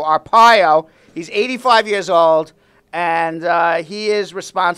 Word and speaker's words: Arpaio: he pardoned Sheriff Joe I always pronounce his name wrong but thank you for giving me the right yeah Arpaio I was calling him our pale Arpaio he's 85 years old